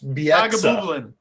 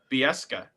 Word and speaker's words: Bieksa: The guy can't pronounce Bieksa. Bieska.